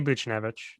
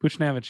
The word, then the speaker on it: Buchnevich: I say Buchnevich. Buchnevich, yeah.